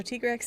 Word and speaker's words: Tigrex: spelled yeah in japanese if you see like t y it is just thai it is thai like taiga rekuzu i always saw that wait the the katakana was always tiger like tv i always thought it was ta-e but no it's it's tea are you kidding me mm-hmm so t-grex is the pr the correct pronunciation i suppose and both